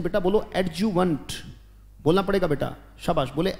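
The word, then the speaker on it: adjuvant: सकते हैं बेटा, बोलो एडजुवेंट, बोलना पड़ेगा बेटा, शाबाश, बोले एडजुवेंट, बोलो ए डी जे यू वी ए एन टी, ये वेंट मत पढ़ना, ये वंट पढ़ा जाएगा बेटा, उच्चारण होगा एडजुवेंट, बोलो शाबाश, एडजुवेंट।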